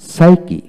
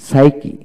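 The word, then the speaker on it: psyche: যেমন ওয়ার্ড এর মধ্যে পি এস, পি এন, পিটি, এমপি পাশাপাশি থাকলে এক্ষেত্রে পি এর উচ্চারণ সাধারণত হয় না। যেমন সাইকি, সাইকি, পি এস ওয়াই সি এইচ সি, সাইকি।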